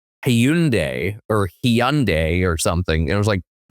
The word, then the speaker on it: Hyundai: the other day where it says it's like Hyundai or Hyundai or something and it was like uh that's a Hyundai and we're correct and you're wrong.